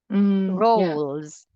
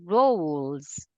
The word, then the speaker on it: rules: rules yeah it's different so this one is rolls rolls you say this as like this Ro R wo rules rules you say it as rules rules rules rules yes rules press the tongue at at the roof of the mouth rules and before you say Z rules rules r rules